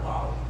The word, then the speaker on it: bouty: new body of work, which are these bottles, bouty bottles.